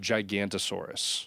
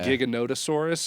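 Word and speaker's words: Giganotosaurus: Is I called it Gigantosaurus. Oh yeah. Okay. They call it like gigantic. It's giganottosaurus, but I was like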